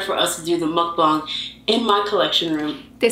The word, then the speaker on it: mukbang: would be better for us to do the mukbang in my collection room. They said it right, mukbang.